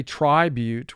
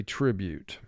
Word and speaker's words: tribute: to vowel group two vowel group two says if you have one vowel at the end of a syllable it will represent its long sound but we don't say tribute we say tribute row two scold scold